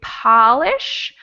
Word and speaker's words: polish: a small o and when i say polish my mouth is much more open so that one's tricky